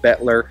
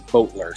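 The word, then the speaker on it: Boettler: just for a record i call it butler some people call it butler uh and my google navigation says boatler so good luck figuring it out it's spelled b-o-e-t-t-l-e-r just a little bit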